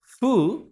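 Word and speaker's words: ふ: বাংলাটা যদি দেখি তাহলে দেখেন হা এখানে হু বলছে হ্যা কিন্তু আসলে উচ্চারণটা ফুটাই সঠিক। এই ফু বর্ণটাই সঠিক। মানে ফু আর হু এর মধ্যবর্তী স্থানে হুফুটাই উচ্চারণ করবেন আপনারা।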